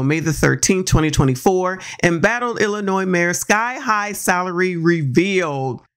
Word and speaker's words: Illinois: Henyard of Dalton, Illinois. This video will look at how to pronounce Chicago and Illinois. Illinois. Not Illinois.